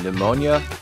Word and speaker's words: pneumonia: Instead of pronouncing it pneumonia, he pronounced it ammonia.